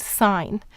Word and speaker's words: sign: we have the word sign here we use the two-letter n phonogram where the g is silent because it's part of the two-letter n phonogram but in then in